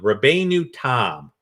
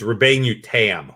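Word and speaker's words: Rabbeinu Tam: here's rashi's own son rabe knew tom actually it's robin you tam let me pronounce that correctly tom would be om tam means perfect uh rebay newton is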